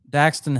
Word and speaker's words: Daxton: Daxton Hill, I believe that's how you pronounce it. Yeah, Daxton yes.